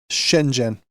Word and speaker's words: Shenzhen: And how do you pronounce that? Shenen. Shenzhen.